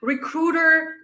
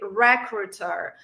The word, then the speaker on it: recruiter: next one is recruiter recruiter the problem in this word is with the the stress a lot of people say recruiter no it's wrong you should say recruiter recruiter right so repeat after